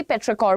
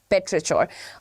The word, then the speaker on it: petrichor: C, there are 2 pronunciations attached to it. मैं personally पेट्रिकोर बोलती हूँ, but apparently the pronunciation is also पेट्रिचोर.